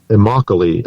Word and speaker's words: Immokalee: Carlene based the song on Immokalee, I believe is how you pronounce it.